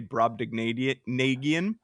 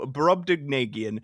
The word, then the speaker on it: Brobdingnagian: And then he says it's ding, or you can say dig. That is also acceptable pronunciation.